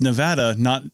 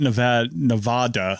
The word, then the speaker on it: Nevada: And it's like people who in Nevada who have it's Nevada, it's not Nevada. Yeah, it's Nevada. Nevadans get very uppity about the pronunciation of Nevada.